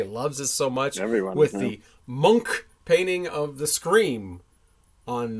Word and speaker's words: Munch: The monk painting of the Scream on the front there. No one's going to say I mispronounced it. Nice. It looks like Munch, but it's actually pronounced Monk.